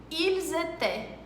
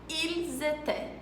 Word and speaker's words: Ils étaient: Na grande maioria das palavras, a última letra nem sequer é falada. Então, presta atenção nesse exemplo que eu vou dar agora. Ils étaient. Ils étaient.